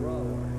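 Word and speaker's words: Brougher: James Whitcomb Brower. Brower, huh? It rhymes with B-R-O-W-E-R. Why do you have that G-H in there?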